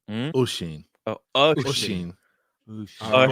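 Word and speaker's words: Oisín: Oshin.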